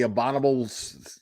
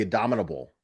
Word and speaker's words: abominable: bubble uh uh the abdominable is it abdominable is it it's abdominable right donovan no how do you say that word the abominable snowman that's how you say it right i haven't tried to